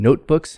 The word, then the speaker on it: notebooks: so first of all main stress is on the first part of a compound usually most of the time notebooks so main stress on note the first part of